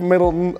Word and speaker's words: Middleton: Welcome to Talking Pest Management, Middleton of MIDS Pest Control. Did I say that correct, Middleton? Yeah, you did.